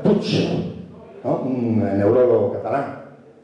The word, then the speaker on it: Puig: Y eso lo dice Martín Alonso Puig, y en catalán se pronuncia Puig, ¿no?